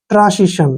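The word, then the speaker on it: transition: ट्रांश ठीक है ना अब टी आई ओ एन का जो टी आई ओ को श पढ़ते हैं हम एन का उच्चारण न करते हैं ठीक है ना ट्रांजिशन देखिए ट्रांजिशन ट्रांजिशन क्या होता है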